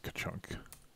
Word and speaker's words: K-chunk: I'll just call it K-chunk. Pronounced ka-chunk.